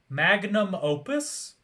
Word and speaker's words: magnum opus: mangus opum magus how do you say it magnum opus oh my god also ann is screaming because